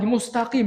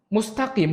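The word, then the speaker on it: مستقيم: ketika anak di kampus ada seorang imam yang bacanya pakai k sama dosen Ana di belakang di teriakin mustaqin lagi Mustakim diulang lagi karena kalau nggak dibenerin al-fatihahnya mustaqim dari kata istikamah Tapi kalau pakai instagram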